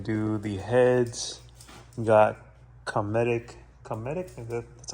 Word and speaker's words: Cometic: We got Cometic. That's how it's pronounced, right? Cometic?